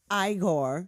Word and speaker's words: Igor: like you must be Igor no it's pronounced Igor they said Igor well they must have